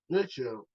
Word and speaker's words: Richel: Rory, his last name is Wychgel. Richel. Rory Richel. That's how you Richel. That's how you pronounce his name.